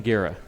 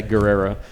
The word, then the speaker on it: Guerra: And I said it right? Yes, sir. I was so worried since Sunday when they told me that you were going to. I thought, I just don't want to say Guerrera.